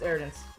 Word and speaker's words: iDance: say your name idance it's idance is the isn't it like ID is like what it it's not part of the actual pronunciation if I if I